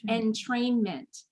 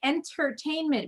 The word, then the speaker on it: entrainment: me just correct you you're making a very common pronunciation error it's entrainment oh my goodness yes the whole time i've been reading it you are not the first people say entertainment but it's entrainment and that's because the